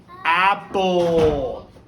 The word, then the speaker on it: apple: So like in the words apple, apple, apple. So you don't hear the E in there, but it's its own syllable.